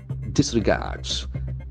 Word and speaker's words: disregard: So the accent falls on third syllable, disregard.